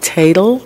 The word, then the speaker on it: Tatel: Is it Tatel? Yes. Is that right? Ms. Tatel, as we all know,